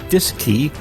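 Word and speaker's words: DSKY: as the D s KY pronounced disc II on board both the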